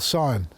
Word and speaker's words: scion: Now that's called scion. It's spelled S-C-I-O-N.